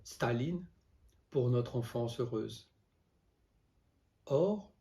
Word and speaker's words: Staline: camarade staline avec l'accent tony chard la première syllabe staline pour notre enfance heureuse or le prénom du